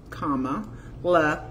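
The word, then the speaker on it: Kamala: found a fragrance called comma La Harris and I call it good comma good comma right for so we know not to mispronounce her name it's like a comma in a sentence comma Harris so um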